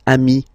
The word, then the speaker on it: amis: Plural form, you add this S, but it's ami as well.